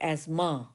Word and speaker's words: asthma: Asthma यानी दमा, T silent बोलते हैं यहाँ पे. एज़मा, दमा बहुत डेंजरस रोग है.